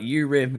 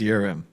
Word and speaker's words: Urim: And you want to learn about if you want to learn more about urim capital. I've been crying. It's pronounced it's pronounced yurim, which doesn't make it any better.